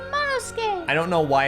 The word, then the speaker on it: Monosuke: Monosuke. Oh, sorry. I am ashamed. Skay. Just don't pronounce the U. Monosuke.